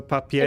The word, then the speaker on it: papier: Um, oh, you're saying the eer makes the a sound. So, papier.